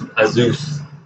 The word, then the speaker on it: Asus: It's pronounced as Asus.